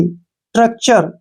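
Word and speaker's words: structure: टी आर यू सी टी यू आर ई स्ट्रक्चर क्या पढ़ेंगे इसको स्ट्रक्चर ट्रक चर यहां पर टीय का जो उच्चारण है च के रूप में होगा ठीक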